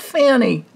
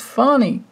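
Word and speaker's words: Fani: screaming at the TV it's not Fanny it's funny so uh okay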